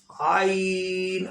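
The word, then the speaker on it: عين: Next ain. Ain also throat sound letter. Okay, throat letters. Throat letters, middle throat, pronounce ain by middle throat.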